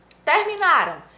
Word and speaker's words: terminaram: Terminaram está no pretérito perfeito, ou seja, no passado, e a sílaba tônica é a penúltima. Terminaram. A sílaba tônica é a penúltima, o na. Terminarão indica tempo futuro, e a sílaba tônica é a última, rão, é oxítona, certinho?